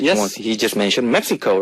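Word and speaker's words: México: X is prob uh X is sounded H that's how they call the country's name oh okay so Mexico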